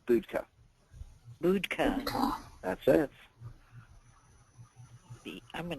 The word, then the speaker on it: Budka: It's Budka. Budka. That's it. I'm going to spell it.